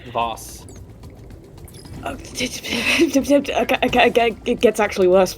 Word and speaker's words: Vaus: It's probably not actually pronounced Vals. Give me 5 seconds. Will it tell me if it's a Vals? How's it spelled? VAUS, I think. Voss.